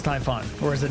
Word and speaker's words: Typhon: after looking it up typhoon is not pronounced the same as typhoon it's not okay so it is Typhon or is it not